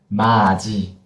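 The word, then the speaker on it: 맛이: 마지, 마지. Yeah, that's it. You don't need to cut. You can pronounce the final consonant fully.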